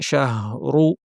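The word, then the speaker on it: شهرُ: শাহরু রমাদান শাহরু শাহ শিন জিহ্বা মাঝখানে সুন্দরভাবে বলতে হবে। হা উচ্চারণের সময় খেয়াল করবেন যেন শুধুই বাতাস হয়ে না যায়, হায়ের আওয়াজটা যেন শোনা যায়। অনেকে শাহ বলে ফেলেন, শাহ এভাবে না, শাহ শাহ খেয়াল করে।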